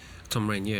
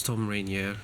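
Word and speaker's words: Thom Rainier: Tom Rainier is how he's pronounced, I think.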